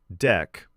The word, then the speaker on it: deque: Double-ended queue, pronounced deque, push and pop at the front and the back, all order 1.